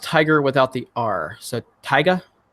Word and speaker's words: Tyga: book or went to school let's see it's pronounced Tiger without the are so Tyga Tyga is that how I say it okay you've